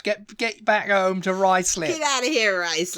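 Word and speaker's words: Ruislip: in Northwest London um I used to think it was ruis slip you know ruis slip ruis lip yeah was it's rice lip rice lip yeah like you got a bit of rice on your lip he you get your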